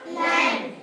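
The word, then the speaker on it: lamb: बनेगा लैम क्या बनेगा लम एल ए एम B spelling होगी बोलेंगे लैम क्या बोलेंगे लम लैम ठीक है और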